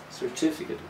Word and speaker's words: certificate: certificate or certificate well if you check the phonetic transcription in your dictionary it will show that the second syllable is the strong one certificate but the stress can